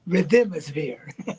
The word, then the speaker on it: Rhythmosphere: say in the book you actually accent the second syllable rhythm. Now instead of rhythm it's rhythmosphere.